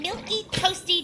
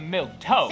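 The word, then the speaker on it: milquetoast: be plain old boring milky toasty Diana Duane uh I think it's actually milk toast so now I got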